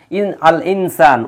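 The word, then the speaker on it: الإنسان: আল ইনসান উচ্চারণ হচ্ছে, হ্যাঁ, তারপরে আল বায়ান উচ্চারণ হচ্ছে।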